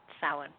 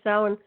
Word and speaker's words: Samhain: So for those of you who aren't really familiar with Samhain, it's it's a festival of the dead normally, and meaning summer's end, and pronounced Samhain, even though it doesn't look like it.